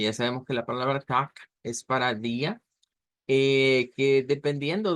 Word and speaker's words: Tag: al final, o bien puede pronunciarse con una K.